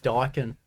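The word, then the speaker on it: Daikin: It's actually pronounced Dakin.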